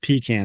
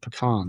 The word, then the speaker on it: pecan: I was a Southern kid who still says the word pecan instead of pecan, right? Oh, the distinction. Hey, by the way, that is the right way to say it.